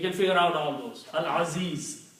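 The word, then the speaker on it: العزيز: Al-Aziz, lam is pronounced, means Ain is It's not making any difference.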